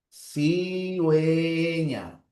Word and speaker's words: cigüeña: Luego en cigüeña, no se coloca la U porque la U no suena. En cigüeña la transcripción sería así. Cigüeña. Colocamos la U porque la U ya se está pronunciando, pero no le ponemos diéresis.